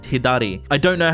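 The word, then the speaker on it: 左: So the the character on the right that means left in Japanese would be pronounced hidari.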